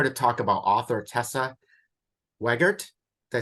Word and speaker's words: Wegert: Hi, it's with To-Do List, and I'm here to talk about author Tessa Wegert.